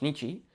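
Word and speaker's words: 日: So here it's pronounced nichi, and there it's pronounced bi, which is kind of interesting to me.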